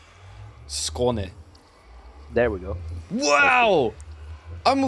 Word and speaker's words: Skåne: What about the Skane? You hate Skane? Skane? Skane? Skan? That letter is pronounced O. Skån. There we go. And then you gotta emphasize the E at the end. Skåne.